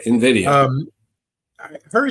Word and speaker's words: Nvidia: if I'm pronouncing it is it Nidia n yeah Invidia um I heard it's